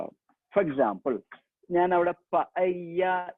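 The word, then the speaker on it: paella: For example ഞാൻ അവിടെ പയ്യ ദെ പൊയ്യോ, പല്ല എന്നാണ് നമ്മൾ ശരിക്കും ഇംഗ്ലീഷിൽ അത് വായിക്കുക, പൊല്ലോ എന്നാണ് ഇംഗ്ലീഷിൽ അത് വായിക്കുക. പക്ഷെ സ്പാനിഷിൽ വായിക്കേണ്ടത് പയ്യ ദെ പൊയ്യോ. അങ്ങനെ പറഞ്ഞാൽ ചിക്കൻ ബിരിയാണി എന്നാണ്.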